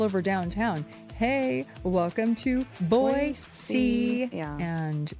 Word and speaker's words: Boise: transplanted here and still refuse to pronounce Boise, Boise, and they keep saying Boise.